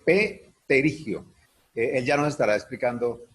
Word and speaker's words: pterigio: El pterigio se escribe con P, pterigio.